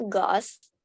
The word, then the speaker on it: ghost: Have you ever seen a ghost? Aha, Hantunya bacanya O-nya.